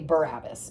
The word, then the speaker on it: Barabbas: Or I'll just say Barabbas, because that's how we usually pronounce it. They have it hyphenated here.